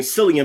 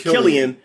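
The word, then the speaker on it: Cillian: with a c so i've been saying cilia but apparently it's killian so my bad i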